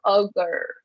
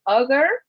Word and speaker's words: ogre: Okay, that R is like we call it the doggy schwa because it's like like when it's a puppy. Okay, so ogre. Okay, so ogre.